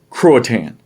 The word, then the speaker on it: Croatan: rapids roanoke virginia roanoke croatan now croatoan croatian that's how we pronounced it so you have roanoke